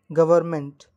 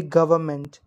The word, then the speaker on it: government: government it will be government because R is silent there so we don't pronounce the letter R so it will be